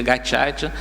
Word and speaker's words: Gacaca: E, no entanto, ali diante daquela tragédia humana, foram criadas as cortes de Gacaca, se escreve Gacaca, né, para quem procurar na internet, mas se pronuncia Gacaca, onde as aldeias se